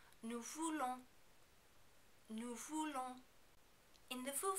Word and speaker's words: nous voulons: Also, be careful not to overpronounce the N at the end of the verb. Nous voulons, nous voulons.